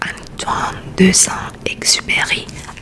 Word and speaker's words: Antoine de Saint-Exupéry: Les Petits Princes by Antoine de Saint-Exupéry, as per my French. That's how you say his name.